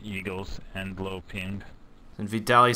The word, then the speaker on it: Vitaliy: Poor Juicy cannot pronounce Vitaliy's name. That's how you say it. Vitaliy, if I'm not mistaken.